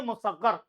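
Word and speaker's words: مصغر: 5वां है इसमें मुसग्गर, तो प्रोनाउंसिएशन सही समझिए, इसमें मुसग्गर।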